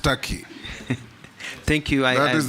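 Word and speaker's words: Türkiye: it's tury it's only written Tak but it's pronounced Taki thank you I that is the name of the country thank you I believe you meant the country of Istanbul and Ankara it's called turkey in English turkey in Arabic yeah yeah that's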